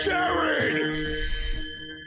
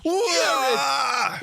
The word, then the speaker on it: Jarryd: Jarryd. It's spelled wrong. It is. Jarrod, but what are you Yeah. gonna do? It still sounds the same.